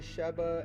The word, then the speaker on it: Sheba: It's Sheba and Sheba, S-H-E-B-A and then S-E-B-A. So I'm pronouncing those two differently, okay?